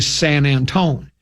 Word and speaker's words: San Antonio: It's actually San Antone. That's how people down in San Antonio say they don't call it San Antonio.